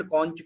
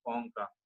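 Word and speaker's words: concha: और ये medial कॉन्च some people pronounce is कॉन्चा, some people pronounce is कॉन्का, ठीक है।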